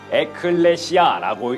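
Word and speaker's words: ἐκκλησία: 여기 적혀있는 이 글자들은 바울이 살던 시대의 글자인 헬라어인데 에클레시아라고 읽어요.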